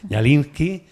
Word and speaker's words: Kñallinsky: El otro día le pregunté cómo se pronuncia una K y una ñ seguida. Dijo, pues la K no se pronuncia. Pues ahí está. Ñalinski, eh, Canaria de ascendencia argentina rusa, ¿vale?